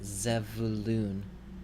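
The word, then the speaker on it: זְבוּלֻן: Here in the second word, you also see a schwa, which is under this zayin, the first letter in the word. So it will also be vocal. This word is pronounced zevulun. Zevulun.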